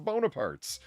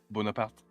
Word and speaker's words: Bonaparte: going to party no Bonaparte foreign just is yeah I mean there is an s on the end but you don't pronounce it you put the S